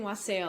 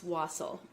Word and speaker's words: wassail: saying it wrong wassel i was saying wassail all day but it's wassel so we're making this